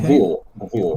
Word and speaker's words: Gvir: Gvir. Benville. Okay. Gvir. Vil. No, don't say. No, not Vil and not Goela de Vil.